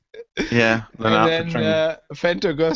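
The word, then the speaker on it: Lennart Poettering: The ISC was saying, Mitzi was saying, his name is pronounced Leonard Patring. Yeah, Leonard Patring.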